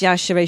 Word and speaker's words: Yashere: It's pronounced Yashere because she's Nigerian.